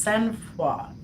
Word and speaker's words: sang-froid: But it is pronounced sang-froid.